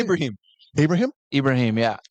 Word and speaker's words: Ibrahim: a Abra how do you say Ibrahim Abrahim Ibrahim yeah Ibrahim unique name I can say he's probably the